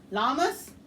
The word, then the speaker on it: llamas: it wasn't my watch deas llamas yamas Yas yes I said it right yes that time you said it right yes can't llamas llamas y'all Yas uh